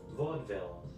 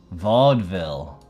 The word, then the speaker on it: Vaudeville: Google Vodville and check the pronunciation. Uh, okay. Let's Let's check it. Here it is. Vaudeville. Vaudeville. I thought it was a Vaudeville. Vaudeville. I thought it was like some some uh like Kruella Deville kind of thing.